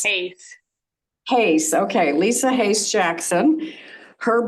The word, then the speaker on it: Hase: Is it H-A-S, Hase or Hase? Hase.